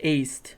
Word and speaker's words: Aced: None of their names are pronounced Indy, how they look. Ased! Ased. What's going on? It's aced.